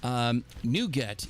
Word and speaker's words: NuGet: NuGet is spelled N-U-G-E-T. It's sort of a takeoff. The Chocolatey portion is a takeoff of that, where NuGet could also be spelled as N-O-U-G-A-T, which is what you